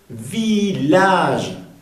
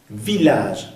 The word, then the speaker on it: village: Village, no se pronuncia village, ¿eh? Village. Hay palabras que la doble L se pronuncia como Y en español o como L. En este caso se pronuncia como doble L.